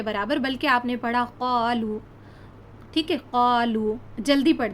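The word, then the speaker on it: قالوا: ہے قالو، ہے نا، واو مدہ کہتے ہیں اس کو ہم نے کھینچ کر پڑھنا ہے. اس کو اگر ہم ہجے کریں تو بنے گا قاف الف زبر قا، لام واو پیش لو، اور واو مدہ کو کھینچ کے پڑھنا ہوتا ہے.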